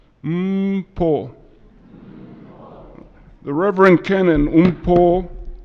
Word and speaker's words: Mpho: everybody repeat after me say like you're humming mmm mmm pol mmm pull the Reverend cannon in